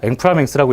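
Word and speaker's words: inframince: 앵프라맹스라고 프랑스로에서 만든 거라서 이렇게 인프라 민스 이렇게 있는데 불어라서 앵프라맹스라고 읽어야 된다고 합니다.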